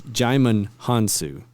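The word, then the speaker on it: Djimon Hounsou: It's Jaimin Hansu. Is how you say it.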